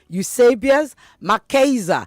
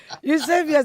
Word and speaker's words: Eusebius McKaiser: Eusebius, did I get that right? I was trying not to do Niger on it or British for that matter. That was perfect. You got it right the first time we spoke on the phone.